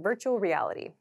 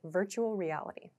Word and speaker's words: virtual reality: is pronounced virtual virtual at Native speed this sounds like virtual reality so these R and L sounds kind of connect virtual reality so virtual reality means